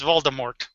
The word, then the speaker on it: Voldemort: And then finally J.K. Rowling said, no, it's Voldemort.